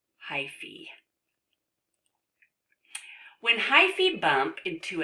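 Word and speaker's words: hyphae: out in every direction actually I think this is pronounced hyphy look at that silly word that you would think that is an a let's see if we click on it oh look at that pronounced hi fee when hi see bump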